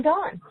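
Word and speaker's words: Donne: And John Dunn. Yeah. And that's spelled D O N E if you haven't read him.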